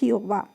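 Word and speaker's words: Gjøa: Okay, so this ship name is Iowa. It is pronounced as Iowa.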